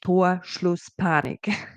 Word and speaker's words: Torschlusspanik: It is Torschlusspanik, pronounced Torschlusspanik. I'm German native speaker.